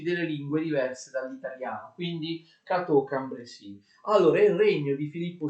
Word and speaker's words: Cateau-Cambrésis: sulla E di Cambrésis e la S alla fine non si pronuncia.